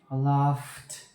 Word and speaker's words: laughed: Because we have voiceless sounds, which is so it would be laughed, laughed.